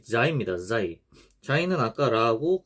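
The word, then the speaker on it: زاي: 요 자이 같은 경우에는 발음이 이 혀 끝이 이를 앙 다물었을 때 앞니 뒤에 닿기까지 이제 닿으면 안 되고 닿기 전까지 가서 이제 자이 이런 식으로 발음을 합니다. 영어로는 Z와 같습니다. 지트.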